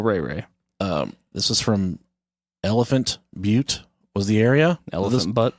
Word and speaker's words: Butte: pronounce I know that it's Elephant Butte but I want to call it elephant booty and speaking of bad